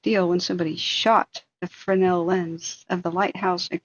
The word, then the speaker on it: Fresnel: So you can Google them by, it's pronounced Fresnel, but Fresnel is the way it's spelled, right?